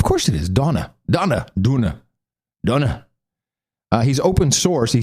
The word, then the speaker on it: Donagh: And Donna, I asked him how do you pronounce it, Donagh. It's an interesting name. Is that like one of those weird hippie names? That is a Irish name, very old-fashioned. Of course it is.